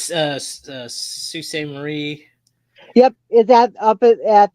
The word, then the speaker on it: Sault Ste. Marie: Oh, yeah, Sault Ste. Marie. Yeah, that's how they say it. It's super French. I heard you say it, and I'm like, how does that say? It looks like salty. Nope.